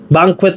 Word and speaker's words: banquet: Banquet pala ang tamang pronunciation diyan. Banquet table. Banquet. Ayan yan. Yan ang tamang pronunciation para tama tayo.